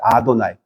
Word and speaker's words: 아도나이: 근데 읽을 때는 아도나이라고 읽어요. 그 글자를 아도나이.